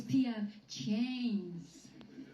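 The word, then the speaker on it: P.F. Chang's: It's PF Chang's.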